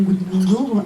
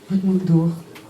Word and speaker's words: Guðmundur: Donc ce soir nous recevons Gudmundur Andri Thorsson, je prononce à peu près à la française. C'est bien. Gudmundur.